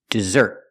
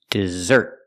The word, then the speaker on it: dessert: second word is pronounced dessert put the stress on the second syllable dessert and the two s's